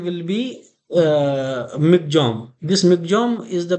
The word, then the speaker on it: Michaung: This Michaung is the pronunciation here, and this name will be given by Myanmar.